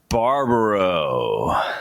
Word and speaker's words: Barbaro: looks a little bit harder than your actually pronunciation is Barbaro Barbaro Gino Barbaro I appreciate you be on